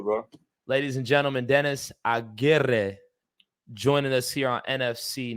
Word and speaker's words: Aguirre: It's Aguirre. Aguirre. Yeah. What A is lot of that, people man? say Aguirre or Aguirre, but Aguirre is the way you Because pronounce it. is the R, are the double R's silence? No, you just roll them.